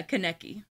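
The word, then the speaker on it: Konecki: and the main one was Adelle and Simon Connect E is that how you pronounce his last name yeah Kenickie they split after seven years together and they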